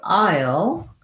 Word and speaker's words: I'll: So I'll sounds the same as this kind of aisle, like the grocery store.